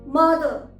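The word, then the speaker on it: mother: इसी तरह से मदर, मदर, सिस्टर, ब्रदर। यहाँ पर आर साइलेंट है।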